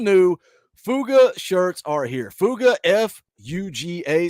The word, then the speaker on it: FUGA: fuga shirts are here fuga f-u-g-a somebody said I should say fugga I don't know how you say it but it's fuga uh the shirts are